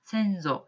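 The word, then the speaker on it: 先祖: 그 다음에 선조 혹은 조상이라고 할 때, 우린 조상이라는 말을 더 많이 쓰긴 합니다만 일본어로는 선조라는 한자를 쓰고 센조, 여기다 사마를 보통 붙이죠.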